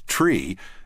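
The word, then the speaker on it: three: Note that although the AIM specifies the pronunciation of the number 3 as tree and the number 5 as fife, in actual practice, ATC might pronounce 3 as 3 and 5 as 5.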